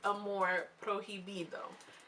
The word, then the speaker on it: amor prohibido: It's pronounced amor prohibido, and that is the name of one of Selena's albums.